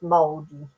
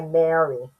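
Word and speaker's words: Maori: Or sorry, the corre the correct pronunciation is moldy. Um, there we go. Most people say Mary, but it's not.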